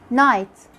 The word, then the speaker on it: night: Like when you say knee, knock, knob, no, night, which also have silent GH.